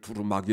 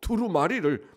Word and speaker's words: 두루마리: 같 2로 말이 두루 자꾸 저런 발음할 때 자꾸 투로 마리를 두루마기 라 그래가지고 드럼 아기와 두루마리를 아주 다른 거잖아요 그 두루마기 가 아니고 두루마리를 먹으라 이걸 하나님의 말씀을 보고